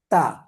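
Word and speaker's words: تاء: তারপর তা, জিহ্বার তা যা, জিহ্বার আগাটা সামনের উপরে দুই দাঁতের গোড়ার সঙ্গে লাগিয়ে উচ্চারিত হবে।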